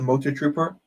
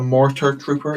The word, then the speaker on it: Mortar Trooper: But I really enjoyed that scene in The Mandalorian, and I really, really loved the Motor Trooper. The Mortar Trooper, even. That's how you pronounce it.